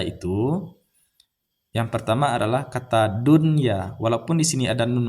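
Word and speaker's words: دنيا: Yang pertama adalah kata dunya. Walaupun di sini ada nun mati bertemu dengan ya, tapi tidak kita idgham bigunahkan. Kita harus membacanya secara izhar atau jelas. Dunya, tidak boleh baca duya.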